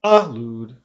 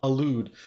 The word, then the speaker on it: allude: it okay these with the second syllable has to be stressed okay so it's elude it's not oh dude okay elude so start it ready make